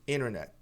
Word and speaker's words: internet: palavra internet em inglês a maioria dos americanos não pronuncia esse T. O primeiro T aqui ao invés de internet, que pode, muita gente diz, mas no no geral os americanos dizem internet, por que esse T some?